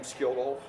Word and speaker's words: Skjoldulfr: If they can pronounce my name Skjoldulfr, which is fine. My mundane name is, so people just call me. Okay, yeah. but Skjoldulfr.